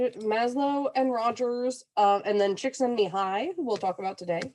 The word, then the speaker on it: Csikszentmihalyi: stuff from both Maslow and Rogers, and then Csikszentmihalyi, who we'll talk about today. Yes, that's how you pronounce his name.